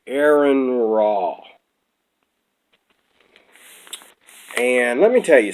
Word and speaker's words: AronRa: I found out I was pronouncing his name wrong. AronRa.